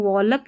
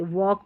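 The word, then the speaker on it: walk: इसको वॉलक नहीं पढ़ते। वॉक पढ़ते हैं।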